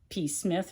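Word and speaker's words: Psmith: Wodehouse, and I've read Jeeves and Wooster, I've read The Blandings, I've read P. Smith, or whatever, the P is silent.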